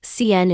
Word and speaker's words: can: Can sounds like can when stressed, but like CN in normal speech.